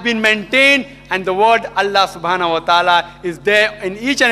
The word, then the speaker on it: Allah: that I L A but when you pronounce it we have to tell them pronounce it as Allah hope that's the question